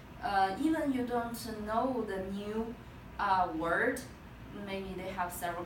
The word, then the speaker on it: 呢: Oh, one thing that n is toneless. So when you pronounce this, you just make it short.